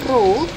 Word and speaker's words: ρ: Ini bacanya ρ ya, di mana ρ itu adalah massa jenis.